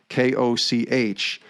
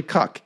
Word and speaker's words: Koch: presumed it was koch it's actually cuck k-u-c-k is kind of how it sounds and koch is how